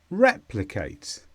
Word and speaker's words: replicate: Pole other meanings too replicate this is a verb and the stress is on the word re replicate this means repeat in the